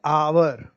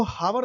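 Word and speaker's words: hour: जैसे हम लिखते हैं आवर, तो इसको हावर नहीं पढ़ते।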